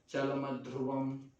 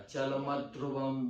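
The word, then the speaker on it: चलमध्रुवम्: हैं कि जैसे चलमध्रुवम, अब ध्रुव जो है, ध्रुव है ना, ये संयुक्त अक्षर है, तो उससे पहले जो म होगा ना उसका दीर्घ जैसा उच्चारण, हाँ चल म ध्रुवम नहीं होगा, चल मत ध्रुवम, म पे स्ट्रेस होगा।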